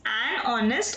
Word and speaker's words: honest: The next example, she is a honest and hardworking woman. So H is silent here. So we will have she is an honest and hardworking woman.